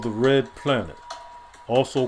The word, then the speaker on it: Ra: of life and growth, which is pronounced as Re, as in the rays of the sun.